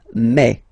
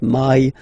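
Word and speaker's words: mai: Remember when you combine this a and then e vowels, you get the sound e. So really open e. Okay? And then you pronounce it me. Me. Okay? So don't pronounce e. Don't try to pronounce it. No, it's me. Me. So it's not my, it's me.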